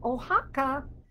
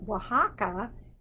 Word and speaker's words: Oaxaca: the country of mexico this state is called oaxaca and i made it pink today o x is how it's spelled it starts with the letters o x and oaxaca is where these morocco's maracas came from but